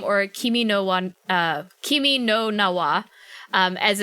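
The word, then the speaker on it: 君の名は: uh your name or kimi no one uh kimi no nawa um as it's pronounced as it said in uh in uh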